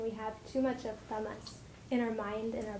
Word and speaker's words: tamas: So this type of food that the corn is a sample of is called in Ayurveda as tamasic. So tamas is spelled Tamas.